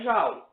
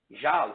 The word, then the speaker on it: joule: Tu vai achar o trabalho em joule, ou joule, né? Como se diz, né? Uma pronúncia mais francesa.